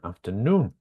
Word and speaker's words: afternoon: uh afternoon and weekend what's the stress syllable in afternoon oh well let's start with how many syllables does afternoon have um sorry um have three right okay good and what is the the stress syllable which did you underline uh no very good yes it's the noon afternoon what about weekend